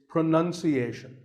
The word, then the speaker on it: pronunciation: do you say it well we say pronounce pronounced and pronouncing but pronunciation there's no noun in this word it's pronunciation word number two is